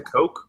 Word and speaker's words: Koch: See, it's kind of tough because, I like Eric Koch. Eric, is it Koch? Koch? I've always pronounced it Coke, but I could very well be wrong because I am ignorant.